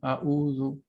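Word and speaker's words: أعوذ: You need to think that the ayn in Arabic is a strong consonant. It's not a vowel.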